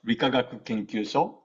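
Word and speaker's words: 理化学研究所: So these 6 letters are pronounced as Rikagaku Kenkyusho, and the first 3 characters, Rikagaku means physics and chemistry, and the last 3 characters, Kenkyusho means research institute.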